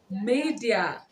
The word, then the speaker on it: Maydea: media wait media i always saved madison i was wrong all this while so it is pronounced media okay i think i've